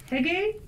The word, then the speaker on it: hygge: No, hygge, hygge.